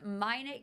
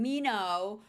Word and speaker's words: Minot: It's Minet Candles, which I've been saying Mino, which you said isn't